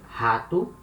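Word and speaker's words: rato: is a hard sound it's similar to letter h in half it happens when letter r comes at the beginning of the words for example here hatu and when letter r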